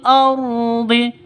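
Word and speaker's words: الأرض: Waabghuna fil ardhi fil ardhi. Langsung masuk ke alif lamnya ke dalam sukunnya. Ini alif lam takrif alqamariyah tandanya sukun. Ardhi rnya tebal ya. Ro tafkhim.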